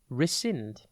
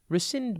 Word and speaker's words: rescind: the exam coach dot tv today's word is rescind it is pronounced r sind and it is spelt r think res and then sind rescind means to revoke cancel or repeal usually a